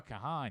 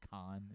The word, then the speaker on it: Kahan: Noah Kahan. Yeah. I think it's just Khan is how he pronounces it.